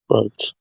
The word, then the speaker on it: brooch: gives you a brooch is it is that how you pronounce it broch or brooch yeah brooch that's what I said pretty sure it's brooch yeah so the game